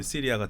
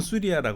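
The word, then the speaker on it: سوريا: 영어로 거쳐서 우리한테 이제 시리아가 됐고음 북한에서는 수리아 그럽니다 수리아 수리아 왜냐면 아랍으로 수리아 그든 아 현재선 수리아 수리아 이렇게 불요 히브리어도 수리가 맞습니다 근데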